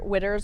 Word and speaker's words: Widder: in our family are Widders are not quitters. My last name is Widder. I took that because my dad would always say, we're not quitters, we don't quit. And then I was like, well, it rhymes.